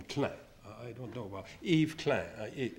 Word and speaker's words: Klein: eve clan did okay you probably pronounce klein but the french call him claire i don't know about